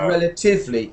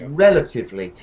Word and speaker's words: relatively: Yeah, you put it on the 3rd, actually. You said relatively, and it's relatively.